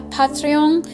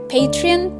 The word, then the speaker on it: Patreon: actual comic, I plan to open up a Patreon. But oh my god, What I meant to say is Patreon. Patreon?